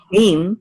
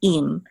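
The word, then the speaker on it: עם: And one of them is spelled with an ayin, it's actually im, and the other one is means with. Okay, so it's really im.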